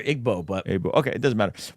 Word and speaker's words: Igbo: there to Rudy and it is pronounced Ebu my bad it's not IG I I always hear Igbo but okay it doesn't